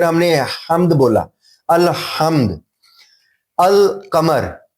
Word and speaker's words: القمر: القمر, ہم نے ال بولا پھر ہم نے قمر بولا.